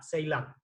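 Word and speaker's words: Ceylon: 6 land la trago se pronuncia ceylan si y tiene unas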